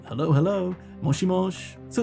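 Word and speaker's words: もしもし: kind of thing um one thing to note is that you can actually say this as moshimoshi right right very clearly the same sound moshimoshi but here aerith actually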